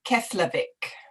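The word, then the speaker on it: Keflavík: and this i cannot help okay can you pronounce the name of the airport slowly she's asking it's keslavik yes unless maybe you would like to type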